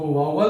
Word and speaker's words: vowel: देखो, मैं बताना चाहूंगा कि जो या अगर आप इसको पढ़ते हो वोवेल, तो मैं बताना चाहूंगा कि यू आर प्रोनाउंसिंग रॉन्ग, आप गलत इसका प्रोनाउंसिएशन करते हो। इसका सही प्रोनाउंसिएशन है वावल।